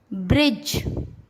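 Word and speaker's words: bridge: Rule, जब जी से पहले डी आता है तब डी साइलेंट होता है। जैसे ब्रिज, एज, हेज।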